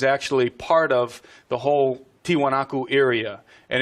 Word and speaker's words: Tiwanaku: Puma punu is actually part of the whole tiwanaku area and and it's only a couple hundred